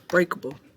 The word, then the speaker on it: breakable: Sorry, it's breakable. It's B-R-E-A-K-A-B-L-E. B-R-E-A-K spells break. Spells and then bull, B-L-E.